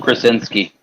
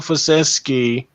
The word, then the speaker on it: Krasinski: I don't know his name, but yeah, I know you're John Krasinski. John Krasinski. John Krasinski. Kra with the Kra. Yeah, with the Kra. John Krasinski. Krasinski, not Krasinski.